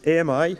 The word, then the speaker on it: AMI: So we call this AMI. We actually pronounce it ami, which means friend in French.